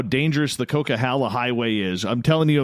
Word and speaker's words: Coquihalla: from Quebec and he couldn't pronounce Coquihalla he used to call it a I'm going over to a Coca Cola way oh yeah oh yeah